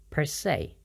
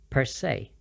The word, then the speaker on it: per se: or as it is it's pronounced with the s e as if it were the word say so it's per se per se some examples I think